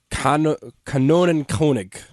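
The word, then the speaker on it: Kanonenkönig: informal royal title I'll try to pronounce it in German as de Canon kig the Canon King oh and this is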